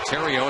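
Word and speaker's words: Theriot: Terrio, it's pronounced, but if you put a space in there, it is the Riot.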